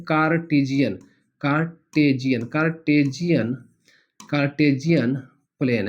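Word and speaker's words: Cartesian: कार्टजियन plane spelling पर बिल्कुल भी नहीं जाना है।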